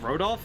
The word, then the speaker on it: Rodolph: Oh, his name is Rodolph? Oh, the H is silent, I see.